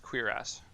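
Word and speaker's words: cuirass: I do find it a little bit funny that that's pronounced queer ass.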